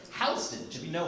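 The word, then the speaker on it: Houston Street: It's not no isn't short for north of Ho Host. It's north of Hston.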